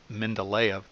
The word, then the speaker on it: Mendeleev: Mendeleev, sometimes pronounced Mendeleev, and a German by the name of Julius Lothar Meyer, independently, meaning they were not working together.